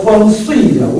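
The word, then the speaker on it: 風水: 그래서 중국에서도 펑수이라고 이렇게 발음을 하고 있습니다.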